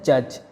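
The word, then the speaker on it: judge: इसी तरह जज, जज में भी डी साइलेंट है।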